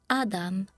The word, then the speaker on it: ADM: Pronounce it Adam and Rem.